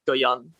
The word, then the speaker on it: Guion: It's about like, Guion. Is that the correct pronunciation? Yeah, so the name is kind of based on the like kind of Cantonese for giant, like Goyan.